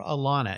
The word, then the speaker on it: Elana: Just type Elana, Elana, and you'll find it right there. Or Elana, if you say it correctly.